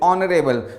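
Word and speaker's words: honorable: जैसे ऑनरेबल, माय ऑनरेबल guest, ऑनरेबल में ओ को प्रोनाउंस कर रहे हैं, एच को साइलेंट रख रहे हैं, तो एन ऑनरेबल गेस्ट होगा।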